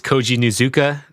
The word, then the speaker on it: Koji Nuzuka: It's Koji Nuzuka. I'll spell that out.